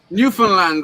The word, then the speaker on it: Newfoundland: newfoundland ryan's just understand newfoundland rhymes with understand that's what i do